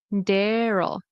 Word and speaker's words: Daryl: So, if you want your question answered, this is the name Daryl. Dare. So, it's like a a word dare. Daryl.